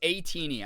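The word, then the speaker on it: ATEEZ: Yeah, because that's the other thing is, it's A-Teeny. I'm so sorry. It's spelled A-Tiny, so I'm always like, why is it?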